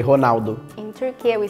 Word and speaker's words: Ronaldo: Italy we say Ronaldo it's fun cuz you don't pronounce the r you're honalo so why don't why